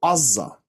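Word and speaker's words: עזה: And the area now, which is known as Gaza in English, in Hebrew is called Azza, and it's pronounced, it's written with an ayin.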